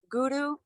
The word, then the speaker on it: Guru: Namo Guru Dev namo Guru is an R but in Sanskrit it's pronounced and it's the tongue Hitting off the roof of the mouth and that's I bow